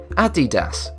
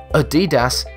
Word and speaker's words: Adidas: Even so, despite this being one of the largest sportsear manufacturers, most people pronounce the name Adidas, which is incorrect. Guys stress the second syllable instead of the first. Adidas is the correct pronunciation.